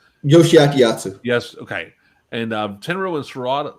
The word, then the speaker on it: Yoshiaki Yatsu: Ricky Chosu and Yostu, I can't pronounce his last name. Yasuo? Yoshiaki Yatsu.